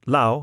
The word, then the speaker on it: lao: the Y, "Chia fan lao yai," lo rhyming with cow, which is to say, "Sir, I invite you to dinner," he agreed at once.